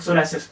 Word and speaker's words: psoriasis: जब हम इसको प्रोनाउंस करते हैं तो ये एस वर्ड से प्रोनाउंस होता है, लेकिन इसमें बता देना चाहता हूँ कि पी वर्ड से ये प्रोनाउंस होता है, पी एस, लाइक सोरासिस।